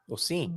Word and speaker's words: sim: Because there is a nasal sound when the M has a vowel before it at the end, right?